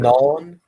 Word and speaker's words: Gnon: channel is capturing capturing gon if I if I'm pronouncing it correctly I think it's nun how isn't to be pronounced capture capturing non yeah capturing non spelled